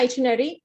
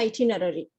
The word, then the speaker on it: itinerary: So British இங்கிலீஷ்ல itinerary, American இங்கிலீஷ்ல itinerary, எப்படி வேணா அதை ப்ரொனவுன்ஸ் பண்ணலாம். So let us discuss the itinerary.